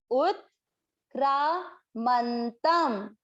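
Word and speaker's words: उत्क्रामन्तम्: इस अक्षर पे अगर अनुस्वार लगा हुआ होगा तो इसका उच्चारण हम करेंगे म।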